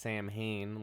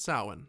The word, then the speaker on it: Samhain: Which isn't pronounced Samhain like it's spelled. Yeah, they get that right in this one. They call it Samhain in this one.